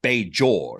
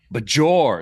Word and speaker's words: Bajor: Which one is the proper pronunciation? I would say Bejor. Me too. A zh.